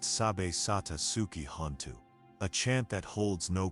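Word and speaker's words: Sabbe satta sukhi hontu: Sabatasuki hu pronounced sab satasuki hanu.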